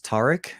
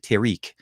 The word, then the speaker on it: Tariq: So Tyreek is the reason behind that is it's my name is Tariq in Arabic, and most people for the longest time always say it in English is Tariq.